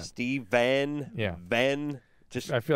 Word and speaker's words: Stephan: more the case really we're just going to pronounce s-t-e-p-h-a-n exactly the same as v-e-n in this case we are going to i'm just going to say it just like i said just like that steven yeah ben i feel